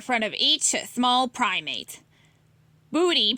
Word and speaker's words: Budi: Budi, pronounced budi, doesn't know what to do.